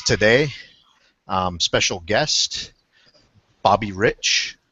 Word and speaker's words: Reich: We have with us today um special guest Bobby Rich, not Reich Rich.